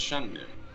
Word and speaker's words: Shenmue: Well, I'd say you're even more of a poser because it's actually pronounced Shunmu.